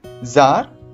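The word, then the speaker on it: czar: Landlord, landlady, milkman, मिल्कमैड, जार, जरीना। बेटा ध्यान रखिएगा, यहाँ पर सी जो है वो साइलेंट रहता है।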